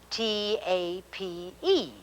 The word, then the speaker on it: tape: will add the e and now we have t a p e which is tape here is r i p